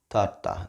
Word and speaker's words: tarta: So try not to curl it as much as you would. So do like a little bit less. Tarta, tarta, tarta. You know, I think my tongue kind of taps the alveolar bridge, which is just that